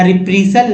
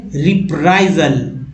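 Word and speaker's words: reprisal: लोग पढ़ेंगे रिप्रीजल, रिप्रीसल ऐसे पढ़ सकते हैं, लेकिन ऐसे नहीं पढ़ना है, ना रिप्रीसल ना रिप्रीसल। क्या पढ़ेंगे? रिप्राइजल, रिप्राइजल।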